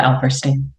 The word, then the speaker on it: Alperstein: It is always 50-50, but yes, Alperstein. All right. Okay. I got it. All right. I take name pronunciation very seriously since my name is rarely pronounced correctly.